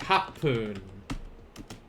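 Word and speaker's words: 八分: nana nana food uh eight is going to be very similar to roku which roku was not roku poon it was roof poon what do you think this is going to be instead for hachi that is right harpoon harpoon what's hapuning uh what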